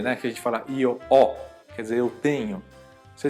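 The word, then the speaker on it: io ho: Então, por exemplo, a palavra eh o verbo avere, né, que a gente fala io o, quer dizer, eu tenho. Você escreve com h, io o, mas esse H não é pronunciado.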